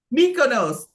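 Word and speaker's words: Mykonos: come up a mutant MOS mikonos there we go thank you I appreciate that Patty mikonos I was gonna be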